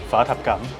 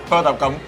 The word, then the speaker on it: phở thập cẩm: In Vietnamese it's phở thập cẩm. Phở thập cẩm. Phở thập cẩm. Phở thập cẩm.